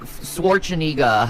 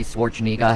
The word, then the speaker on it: Schwarzenegger: Yeah, like swinega. Hi, Schwarzenegger. How are you? I mean, Arnold Schwarzenegger. How? Okay, I don't understand. Well, you say it like that like Arnold, it make it sounds better.